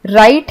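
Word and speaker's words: write: तो वैसे आपको कुछ और वर्ड्स दिए गए हैं, जैसे ऑनर है, इसमें H साइलेंट होता है। राइट है, इसमें W साइलेंट होता है।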